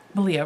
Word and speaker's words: Malia: started a toe on Malia rhymes with Aria of the yarn raising